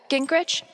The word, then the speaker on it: Gingrich: foreign Steph uh Gingrich is that how you say it yeah that's